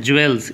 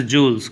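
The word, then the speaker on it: jewels: हम लोग जनरली पढ़ते हैं ज्वेल्स, इट्स नॉट ज्वेल्स, pronunciation ज्वेल्स नहीं होता है, इसको अभी से ही आप सुधारो उसे, ठीक है। इसे जूल्स, क्या बोलते हैं इसे? जूल्स, नॉट ज्वेलरी, ज्वेलरी, जू बोलना है आपको, ठीक है।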